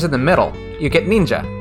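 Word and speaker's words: 忍者: So that second character is pronounced like sha or ja as a person. So ninja, that is like a ninja.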